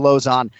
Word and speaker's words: Lauzon: We call him Lozon in the UFC. It's one of the easier names to pronounce incidentally. Just say opposite of high, it's Lozon.